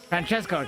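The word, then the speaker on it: Francesco: How do you say that? Franchesco. There you go.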